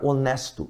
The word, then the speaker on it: honest: A palavra honesto iniciou com H. A palavra herdeiro iniciou com H. A palavra herança iniciou com H. A palavra honrado iniciou com H. Mas na pronúncia, este H aqui é eliminado.